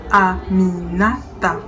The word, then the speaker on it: Aminata: Ce n'est pourtant pas si difficile. Aminata. Ai-je prononcé en séparant bien les 4 syllabes?